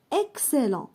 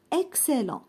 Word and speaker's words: excellent: مثلا excellent. هناك X متبوعة ب C والC هو حرف ساكن. excellent.